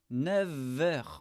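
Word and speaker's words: neuf heures: Mais avec les heures et l'âge, les années, le f de 9 se prononce. 9h.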